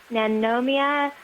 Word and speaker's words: Nanomia: George matizimodo for telling me how to properly pronounce that one but it's a nanomia suction off okay you want to zoom in